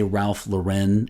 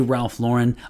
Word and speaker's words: Ralph Lauren: is happening I mentioned that some people say Ralph luren and some people say Ralph Lauren um he is American so it's it should be Ralph Lauren I did double check and it is Ralph Lauren here's what I think may be happening uh